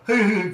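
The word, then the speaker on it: huhu: have a grub here that we call a hoo-hoo grub it's spelt h-u-h-u and uh literally uh we you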